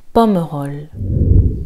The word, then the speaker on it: Pomerol: Alors celui-ci, parfois, on va l'entendre prononcer Pomerol, mais le E se prononce. Pomerol.